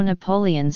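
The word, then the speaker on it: Napoleones: There is also Napoleon's again with all the vowels pronounced, a millefeuille pastry stuffed with a sweet milk-based filling.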